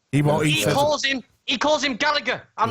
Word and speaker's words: Gallagher: That is the pronunciation, Gallagher. But for some reason, they call him Jack Gallagher. And it's like, there's the fucking G in there, right?